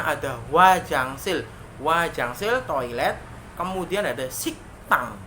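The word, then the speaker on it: 식당: Kemudian ada siktang, dibacanya siktang, bukan siktang, siktang. Karena giak bertemu digat, giaknya akan berbunyi dengan keras ya, dengan sangat jelas, itu k, siktang.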